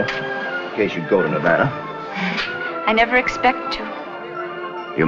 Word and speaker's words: Nevada: You dance very well for a man from Nevada. By the way, that's pronounced Nevada. I notice you give it the broad ah. I prefer it to a dreadful flat ah.